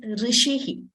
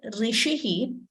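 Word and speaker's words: ऋषि: Rishi Sage so here when you say Rishi it is neither Rishi heat is not e nor is it so that is there is a tendency to you know interchange or mispronounce this it is and it is neither e nor okay so please note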